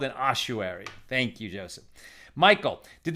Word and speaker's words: ossuary: thank you joseph says i think ossuary is pronounced ossuary thank you so there we